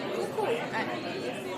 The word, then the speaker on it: coucou: How do you say coucou? Coucou. So, Like a chicken, you know?